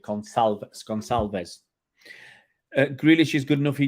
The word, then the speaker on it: Gonçalves: Oh, it'll be a soft C with a swiggly bit. Gonçalves.